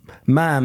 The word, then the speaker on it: ma'am: Like mom rhymes with he going just poked his head around it's it's ma'am as in jam not mom as in spam or something like that.